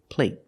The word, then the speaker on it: plate: Compared with plate. Plate. The stop T makes the vowel shorter.